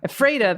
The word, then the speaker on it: Ephrata: ever back there and you hear me pronouncing oh ephrata freda the correct way the pacific northwest way